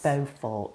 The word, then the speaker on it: Beaufort: Beaufort. Beaufort, not beautiful.